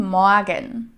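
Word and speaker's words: Morgen: here to the pronunciation so we don't have this dominant German R sound here like Morgan I actually don't really pronounce it that much guten Moran and in some region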